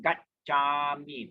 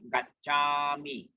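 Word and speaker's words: gacchāmi: And the double consonant Gacchami. Buddhang Dhammang. Okay? Gacchami.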